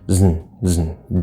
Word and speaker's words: doesn't: of a vowel so doesn't doesn't doesn't doesn't you just kind of go from the Z straight to the N without even trying to hit a vowel it's just you close